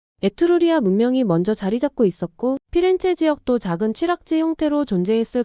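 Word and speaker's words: Firenze: 또 중세 피렌체의 이름은 남고 발음은 달라졌다. 중세 시대로 들어서며 플로렌티아는 이탈리아로 바뀌면서 현지에서는 플로렌티아 나중엔 피렌체로 발음됩니다. 흥미로운 건 영어권에서는 여전히 플로렌스라는 라틴어식 이름을 씁니다. 즉 같은 도시를 두고도 현지에서는 피렌체의 영어권에서는 플로렌스로 부르게 된 거죠.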